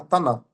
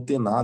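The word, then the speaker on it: Tanakh: O que nós tínhamos antigamente, né, de Bíblia, qual que era a Bíblia de Jesus Cristo, por exemplo, era a Taná, ou Tená, dependendo da pronúncia, é uma palavra que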